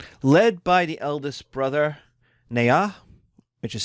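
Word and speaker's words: Nhạc: Led by the eldest brother, Nha, which is spelled N-H-A-C.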